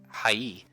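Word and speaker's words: はい: word high actually pronounced as high is actually pronounced high E but since Japanese is a language spoken at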